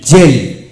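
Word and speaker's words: gel: এল এম এন আর এস থাকলে জি এর উচ্চারণ বর্গাচ এর মতো হয় যেমন জি ই এল জেল জি ই আর ইউ এন ডি জে রান্ড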